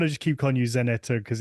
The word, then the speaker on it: Żaneta: you had put on well um keep so pronunciation of your of your name Sor chanet chaneta janeta janeta yes okay because I didn't want to just keep calling you zaneta because it's it felt lazy um obviously you